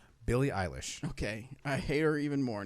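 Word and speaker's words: Billie Eilish: who Bobby really doesn't like on the Internet Billy eyeless illis she said Billy English William William eyelash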